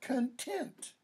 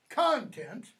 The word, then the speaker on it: content: Is it content or content? What's the difference in the pronunciation? What does the different pronunciation mean? Content, stress first syllable, or content, stress on second syllable.